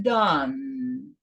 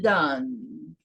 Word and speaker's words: done: Vai ser pronunciado done, o E, final de frase aqui, é mudo, vocês sabem, e você prolonga a sílaba, que ficou uma sílaba só, done.